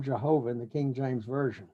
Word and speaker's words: Jehovah: around for proper vowels we use the vowels for another hebrew name for god adonai and you put that together and you get uh h or a y-a-h-o-w-a-h-a-i h and change the in the pronunciation the y to the j and so you get this kind of hybrid word or combined word uh jehovah okay let's move on